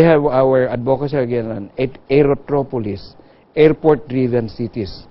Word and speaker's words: aerotropolis: So we have our advocacy again on aerotropolis, airport-driven cities. How do you say that? Aerotropolis. Aerotropolis. A polis is city, aerotro is the airport.